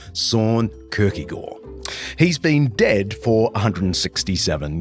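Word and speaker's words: Søren Kierkegaard: I'm talking about the Danish philosopher-theologian Soren Kierkegaard, which is bad Aussie pronunciation of Soren Kierkegaard.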